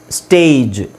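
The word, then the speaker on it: stage: ಈ ತೆಗಿತೀನಿ ಅಂತ ಇಟ್ಕೊಳ್ಳಿ ಈ ಇಲ್ಲ ಅಂದ್ರೆ ಇದರ ಉಚ್ಚಾರಣೆ ಏನಾಗುತ್ತೆ ಗೊತ್ತಾ ಎಸ್ಟಿಎಜಿ ಸ್ಟಾಗ್ ಯಾಕ ಹೇಳಿ ಇದಕ್ಕಿಂತ ಮುಂಚೆ ನಾನ ಏನು ಹೇಳಿದೆ ಕೊನೆಯಲ್ಲಿ ಜಿ ಬಂದ್ರೆ ಅದನ್ನ ಗ ಅಂತ ಹೇಳಬೇಕು ಸೋಎಸ್ಟಿಎಜಿ ಸ್ಟಾಗ್ಎಸ್ಟಿಎಜಿಇ ಸ್ಟೇಜ್ ಪಿಎಜಿ ಪ್ಯಾಗ್ ಪಿಎಜಿಇ ಪೇಜ್ ಸೊ ಇದು ಈ ತರ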